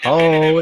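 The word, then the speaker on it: ὁ: It's pronounced ho, by the way.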